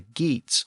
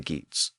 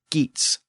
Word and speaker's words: Geats: pronounce the name as GS but remember g a r was pronounced y the original version of our word year so that initial G probably had a y sound in Old English in the original text